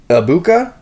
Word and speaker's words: Egbuka: That is Emeka Egbuka. Yeah. And I apologize. It's spelled with a G in there, and silent G's are, I guess, difficult for me.